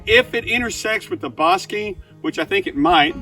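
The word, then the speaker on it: Bosque: might say this is bosi It's pronounced like b o s s k y bosi it's the name of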